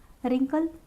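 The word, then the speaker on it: wrinkle: रिंकल, यहाँ पे भी हमारा आर से पहले है तो डब्ल्यू साइलेंट है।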